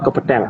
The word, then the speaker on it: kepetel: Di sini tadi kata anu kebacanya agak keliru sedikit ya. Jadi apa namanya Kang Kekel kepetel, Oh, kepetel. Oke. ya kepetel gitu.